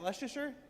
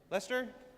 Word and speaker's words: Leicester: How do you say? Is that Leasher? Lester. Lester.